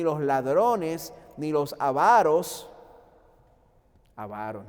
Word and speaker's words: avaros: Avaros, no es ávaros, no tiene acento en la primera A. Avaros, es llana la palabra.